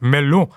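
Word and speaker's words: Melun: Paris and retreated to a place that you assume in French is pronounced Melo but in Australian English would be melon about 40 km southeast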